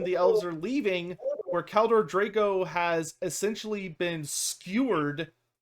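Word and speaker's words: Kaldor Draigo: And this matches very, very well with a particular character from the ever infamous Grey Knights, the extremely infamous character Kaldor Drago, I think, if I'm pronouncing it correctly.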